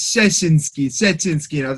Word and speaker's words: Szczecinski: polish is please help it's sessions dude it's whatever you need it to be man anytime in school they'd